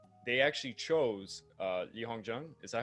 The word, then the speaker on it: Li Hongzhang: They actually chose Li Hongzhang. Is that how you pronounce it? Li Hongzhang.